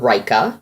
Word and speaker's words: Ryka: shoe this one is a brand called Reika that's our Y ka is how it's spelled so let's do these one